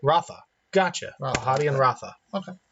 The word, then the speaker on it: Radha: Radha is pronounced with the TH, so Ratha.